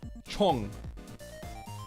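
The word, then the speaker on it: 총: Chong. That means gun. Chong. So it's like C-H-O-N-G, except the O is O.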